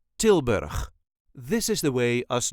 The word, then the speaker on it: Tilburg: brabant and is called tilberg this is the way us duchies say tilberg tber there is a light emphasis on the first part till till bur all